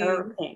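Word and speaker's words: Erlking: Earl King.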